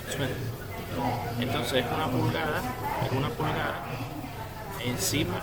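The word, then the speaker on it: 寸: En este caso es Zun. Se escribe C-U-N. Tono 4. Zun. Muy bien. Pulgada se pronuncia Zun.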